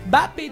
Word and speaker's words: Mbappé: ouais voilà je sais comme certains mots comme Monsieur Mbappé tout le monde l'appelle Mbappé mais c'est Mbappé tout simplement simpement exactement